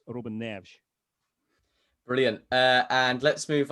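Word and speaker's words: Neves: So, um Reuben Nev Ruben Nev. So, so it's um the e s at the end is this sort of soft sh sound. Um again, if you were Brazilian, same language but obviously different country, then it would be more Ruben Nevs, Ruben Nevs. Uh, and even even Ruben Nev is and even the E sometimes um a bit wider, but uh since he's Portuguese, Robin Nev.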